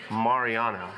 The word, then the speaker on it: Mariano: It's pronounced Mariano, right? Yeah, that's right. I'm the only one that says it right? You and like Nick Airball says it right, and Mariano, not Mariano.